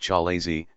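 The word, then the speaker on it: chalazae: the egg contains two collazate pronounced chalazi singular ikalaza which appear as white rope-like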